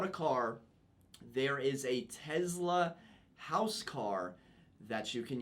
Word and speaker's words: Tesla: he's uh he said he actually pronounces it with a z so you are the